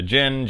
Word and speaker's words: djinn: And the D is silent. So the djinn jizz right up in her.